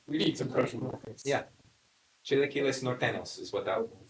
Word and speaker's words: chilaquiles: Chilaquiles? Chilaquiles Okay. is how it's said.